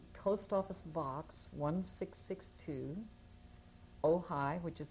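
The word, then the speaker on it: Ojai: with you um post office box 16 62 oh high which is spelled OJ AI California which is where I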